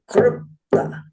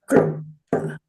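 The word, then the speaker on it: kḷpta: a rare word with one of the only cases of a vocalic L that you will see. But you will see this word, and it's pronounced krupta. Say with me, krupta.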